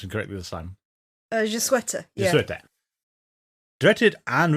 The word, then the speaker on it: Je Souhaite: We'll come back to how the wishes seem to work, but as we get into Je Souhaite, which I think I pronounced incorrectly this time. Je Souhaite, yeah.